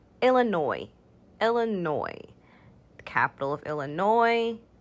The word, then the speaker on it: Illinois: boise illinois illinois illinois the s at the end there is silent so we just say illinois illinois the capital of